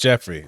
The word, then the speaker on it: Geoffrey: It's pronounced Jeffrey. It's all right though. No, in Mexico, it's Geoffrey.